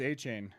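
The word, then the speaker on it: Achane: the boys oh no it's it's it is a chain is it okay yeah it's Devon a chain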